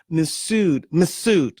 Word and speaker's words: Mifsud: How do I say his name? Masood. Yeah, that's how you pronounce it.